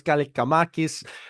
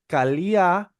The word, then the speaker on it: Kaliakmanis: the quarterback from Rutgers, Athanasios Kalikamakis. Or actually, let me pronounce right. Athanasios Kaliakmanis, Greek quarterback from Rutgers, is now a backup quarterback for the Washington Commanders.